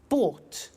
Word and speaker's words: bought: Buy, bought. You notice that O-U-G-H-T is pronounced ought.